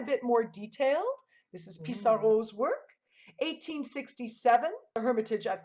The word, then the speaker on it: Pissarro: And in English, we would say Pissarro, but in French, it's Pissarro, and I prefer that pronunciation.